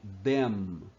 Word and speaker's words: them: Temos as palavrinhas para eles ou elas, o pronome them. Você alonga a última letra para diferenciar de then, então, daí e assim por diante.